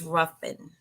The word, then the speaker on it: Ruffin: Now, before we continue, am I pronouncing the last name correct? Is it Ruffin or Ruffin? It's Ruffin.